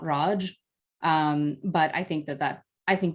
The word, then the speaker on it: Raj: However, it has the pronunciation, the sort of anglicized US pronunciation of Raj and not Raj.